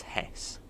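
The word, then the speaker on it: Hest Bank: hear it pronounce as Hess so it's a silent T so you got the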